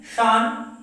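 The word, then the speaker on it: 四: मतलब होता है 2, शान 3, शी यो योन मतलब 4। तो यहां पे देखिए, यहां पे 4 का टोटल 3 प्रोनाउंसिएशंस है। एक है शी, यो और योन, लेकिन इसका यूजेस अलग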